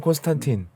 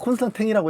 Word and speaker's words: Constantin: 바시론 콘스탄탱 그거- 바세론 콘스탄틴. 콘스탄탱 콘스탄땡이 뭐야? 아니, 근데 일본 그- 발음이야 뭐야? 아니 그게 원래 원래 불어라서 콘스탄탱이라고 해야 되는데 불어로 네. 그렇게 또 한대. 아. 근데 그게 정통이래. 그게 정통이에요.